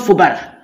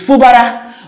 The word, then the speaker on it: Fubara: he keeps calling him Fubara. That is not Fubara. It is Fubara.